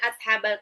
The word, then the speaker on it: أصحاب: Jadi pasti bacanya nanti jadi wadrib lahum masalan ashabal qaryah. Salah. Wadrib lahum masalan wadrib lahum masalan. tambahin. Ashabal qaryah. Ingat, sod itu bukan shin, jadi bukan ash.